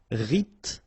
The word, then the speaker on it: rythmique: Remember, Y pronounced like I and then H doesn't exist. Rythmique.